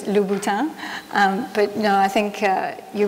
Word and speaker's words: Louboutin: the random pronounced innate pronunciations of laputan which is lubuto but no I think